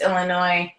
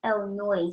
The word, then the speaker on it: Illinois: there alpha wolf it's Illinois yeah yeah why some people say Illinois instead of Illinois because they don't realize that the S is silent it's okay let me